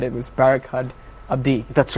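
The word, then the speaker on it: Barkhad Abdi: And now I had I have really huge problem pronouncing names of actors, and you said it was Barakat Abdi.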